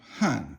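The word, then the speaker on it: 汉: 三点水, and then you have Han is fourth tone, and that's Yo actually, but it's pronounced Han, and it means Han Chinese.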